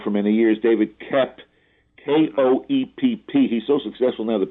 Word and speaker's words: Koepp: successful writer now for many years, David Koepp, K-O-E-P-P. He's so successful now that people even pronounce his name correctly.